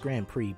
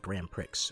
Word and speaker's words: Grand Prix: never understood that word it's pronounced grand prix but it has x in it so you want to say like graham pricks or shish or whatever